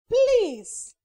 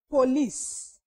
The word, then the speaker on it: please: we have please please this one is pronounced as please and not police ah it is please